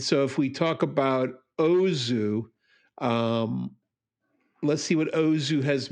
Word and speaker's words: Ozu: No, that's Uzo? Uzo. How do you even spell it? I think it's UZO. Okay. Use Tokyo Story. Tokyo Story. Ozu. Sorry. Uzo is a Greek drink.